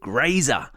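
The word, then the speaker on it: Grazer: give you a hint her name has something to do with eating and rhymes with laser yeah that's right her name is graer question number four we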